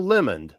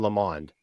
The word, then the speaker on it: Lamont: Maybe he pronounces his name Lamond. That must be it, because he says it rhymes with Fill the Pond. So it must be Bill Lamont.